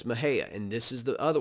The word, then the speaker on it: Mexia: as i've said mahaya others will say mexia no it's mahaya and this is the